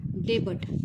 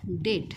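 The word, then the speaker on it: debt: डेबट पण विद्यार्थी मित्रांनो हा डेबट हा शब्द उच्चार नाही तर त्याचा उच्चार होतो डेट काय होतो बघा हा जो काही याचा उच्चार होतो काय होतो बघा डेट ह्यामध्ये जे काही बी हे अक्षर आहे हे काय आहे रे सायलेंट आहे काय आहे ्याचा उच्चार इथे होत नाही आणि डेट म्हणजेच काय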